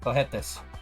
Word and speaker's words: cohetes: H is almost mute. Cohetes.